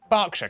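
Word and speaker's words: Berkshire: E R is pronounced R. Barkshire, Clarkenwell, Harfordshire.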